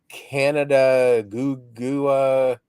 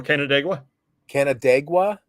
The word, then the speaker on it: Canandaigua: It's like Canada Gugua. Oh, Canandaigua.